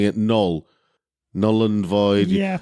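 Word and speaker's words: Knull: but putting a Care on the front by pronouncing it null null and void it's the kind of character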